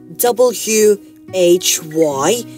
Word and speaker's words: why: a word which is w h y and and the pronunciation of these words is also why I mean h is silent here yeah so you might